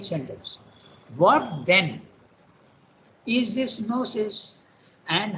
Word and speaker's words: gnosis: English for the noses also you don't pronounce the G now you compare that